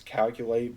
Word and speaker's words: Calculate: Now, what we do, we take all this, so there's calculate, it's QL, it's calculate, but spelled with a Q. I'm just going to pronounce it as calculate, because I can make the cost sound.